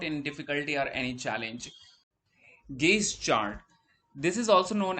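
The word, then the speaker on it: gauge: this is how uh gaze chart would look like some few people also pronounce it as gauze chart so I I'll be pronouncing it as gaze chart not as Gau chart so what it does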